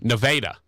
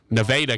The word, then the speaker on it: Nevada: So there's actually 3 ways to pronounce that word. In Arkansas, they pronounce it Nevada. In the actual state, they pronounce it Nevada. And by the way, they will get mad at you if you call it Nevada and not Nevada.